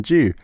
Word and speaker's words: Mountain Dew: he'd always buy Mountain Dew, and then I'd say "Oh, Uncle, can I have some Mountain Dew?" And he'd be like, "What? Mountain Dew?" Because obviously Americans say Dew, not Dew.